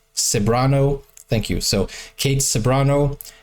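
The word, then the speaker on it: Ceberano: his performance also and the Beautiful Kate saano pronounced saano thank you so Kate saano is just amazing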